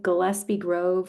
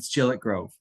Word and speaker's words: Gillett Grove: It's like Gillespie Grove or something in Gillett Grove. It's Gillett Grove.